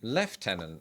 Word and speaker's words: lieutenant: Lieutenant, whereas British people say left tenant.